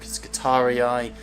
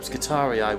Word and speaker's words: Scutarii: With a Tau fighting alongside you, an Orc, Scutarii, an Adeptus Arbites Peacekeeper. What? Yeah, Scutari is if a pleb. Scutarii would be the Latin pronunciation. So, assuming it's High Gothic, it would be Scutarii.